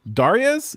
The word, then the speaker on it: Dariusz: Dariusz, is that correct? Yeah, that's correct. Dariusz from WildMesh 3D. Dariusz, howdy, and welcome to the show. Hi guys, I'm Dariusz from WildMesh.